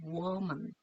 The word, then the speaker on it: woman: 그러면 U부터 발음을 시작을 해서 woman, woman. 자, 이렇게 발음을 하시면 좋겠습니다.